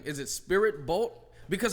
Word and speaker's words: SpiriBolt: I is silent. Yeah. Spirit bolt. SpiriBolt.